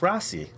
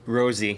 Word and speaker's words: Rosy: also with me today is Tom and Rossi actually Rosie Rosie it's a misconception but there's no e there's no e is pronounced Rosie and it used to be driven